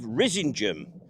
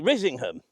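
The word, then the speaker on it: Risingham: on it, Robin of Risingum. And I believe that is the correct pronunciation in the local dialects. Rising, although every fiber of my being wants to say Rizingham, but there he is, robbing of Risingum.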